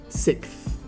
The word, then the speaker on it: sixth: The challenge here is that tricky combination of sounds, especially that kst.